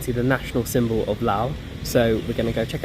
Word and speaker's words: Laos: I keep calling it Laos because it spelled Laos but it's actually pronounced Lao so I apologize for